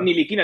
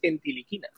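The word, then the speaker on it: Ntilikina: Y si te dicen ellos niliquina, dicen: no, os estáis equivocando, lo estoy diciendo mal, es entiliquina.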